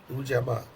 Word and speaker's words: Ujamaa: And then the fourth day is Ujamaa. Ujama. Ujamaa. Ujama. Right. Ujamaa. Sounds like Ujima, but it's Yeah, remember I got confused with that last time.